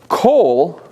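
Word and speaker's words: כל: It's a different vowel, but it's a shorter O vowel. Like here, kol.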